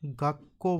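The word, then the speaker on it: 学校: ओ sound के आगे ऊ साउंड आके वर्ड खत्म हो रहा है। तो वो प्रोनाउंस होएगा आपकी ओ की लॉन्ग साउंड के अंदर। ओ की लॉन्ग साउंड के अंदर। ठीक है? तो इसलिए हम इसे कैसे प्रोनाउंस करेंगे? ओ। ठीक है? ऐसे ही इसका एक एग्जांपल देखना चाहे तो हम जैपनीज में स्कूल को क्या बोलते हैं? गाको बोलते हैं।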